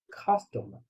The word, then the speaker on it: customer: So the correct pronunciation is customer, customer, customer, customer, right?